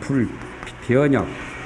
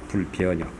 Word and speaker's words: 불변역: 그러니까 이 진이라는 것은 불허망, 허망이 아니라는 뜻이 되고, 여란 말은 불변역, 변하지를 않는 그런 것을 말합니다. 불변역. 변역이라고 발음을 역으로 합니다.